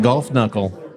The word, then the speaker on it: Kunkle: When you're ready to convert that double IPA into a Roth IRA, talk to Geoff Kunkle at Edward Jones. That's GEOFF. Kunkle, pronounced golf knuckle.